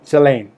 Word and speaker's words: Shalane: I don't know how you do it, but it's a Shalane.